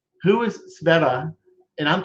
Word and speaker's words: Sveta: So maybe we could start like who is Sveta? And I'm saying it right, correct? Yes, you pronounced it right.